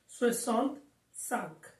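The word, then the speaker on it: soixante-cinq: It should be swissant sunk.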